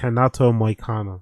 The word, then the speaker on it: Renato Moicano: The pronunciation is Renato, not Renato. It's Renato Moicano.